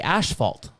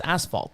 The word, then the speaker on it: asphalt: and Australia we say ashalt even though it's asphalt but we say ashalt I've always have it if you look it up in the dictionary it says Canadians and Australians pronounce it ashalt I don't know why